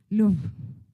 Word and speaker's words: Louvre: The Louvre? Louvre, okay.